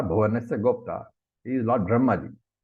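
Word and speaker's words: Brahmā: He is Lord Brahmaji. So remember here, Brahma, it's long A. Okay, Brahma. It's not Brahma.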